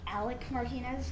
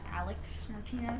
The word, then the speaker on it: Alec Martinez: It's pronounced Alec Martinez, not Alex Martinez.